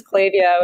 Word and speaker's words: Klaviyo: that it actually is pronounced Klaviyo. Yes, trust me, it is an ongoing topic of conversation around the office here too. I think we've got a video somewhere that just goes through the many variations that people typically use. But it is Klaviyo. It is with a K.